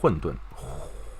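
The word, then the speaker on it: 混沌: The correct pronunciation is 混沌.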